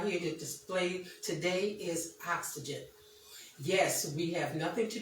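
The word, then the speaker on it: Oxzgen: Oxygen, not the oxygen that we breathe, but it's oxygen, and it's spelled O-X-Z-G-E-N.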